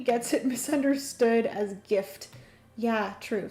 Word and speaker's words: GIF: I feel like saying the hard G gets it misunderstood as gift. Yeah, true. So, it'd be a GIF, like Jify Lube.